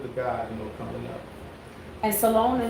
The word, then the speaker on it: Salone: We KG here. Salone. Oh, that's how you say it? Yeah.